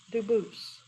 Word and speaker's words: Dubus: They do pronounce it dubis, but you said you pronounce it dus as the original dubus as the original French. French. Yep. Very well. Duboose.